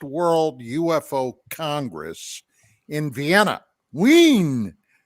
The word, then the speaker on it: Wien: Wien. That's how they say it over there. Wien, not Wien.